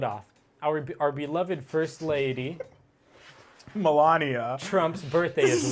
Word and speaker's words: Melania: Wish Melinda Trump a happy birthday. Melinda? How do you say Melania? Melania. Melania, fuck, okay.